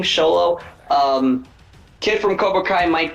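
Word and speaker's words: Xolo: like Jolo that is that he pronounce his name sholo um kid from kobai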